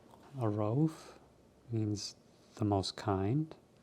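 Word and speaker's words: الرؤوف: Ar Rauf means the most kind. And the second waw, some people leave out. It's not actually pronounced. It's actually pronounced u because of hamza on top.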